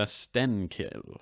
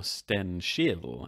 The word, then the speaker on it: Stenkil: So enter Stenkil, or Stenskil, as he was probably more properly pronounced in Swedish and back in the day. Yeah, Swedish has this horribly difficult ch sound in a lot of words. Stenskil is one of the trickier ones perhaps to pronounce if you're not a native.